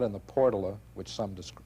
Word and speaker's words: Portola: if not in the portala which some do some called Portola but I guess that's a local pronunciation of portala where should it be